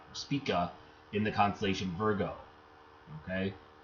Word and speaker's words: Spica: arc down till you spike it down to Spica speaka in the constellation Virgo okay only way I